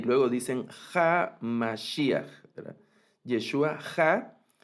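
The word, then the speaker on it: המשיח: Y en ocasiones una variante de pronunciación sería Yeshua a Mashiach, no Ja, sino a Mashiach, y aunque está la Hei, no toma ningún sonido, ¿no?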